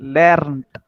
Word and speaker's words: lernt: Lernt Lernt लेंट तेरा pronounce कितना है लेंट आता है लेंट नहीं है लेर्नट आर आर है बीच में lernt.